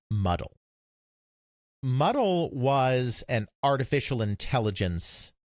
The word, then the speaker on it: MDL: highlevel programming language called mdl which was normally pronounced muddle muddle was an artificial